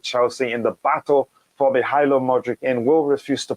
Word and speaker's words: Mykhailo: the odds for the It's pronounced Mykhailo. Yeah, Mykhailo.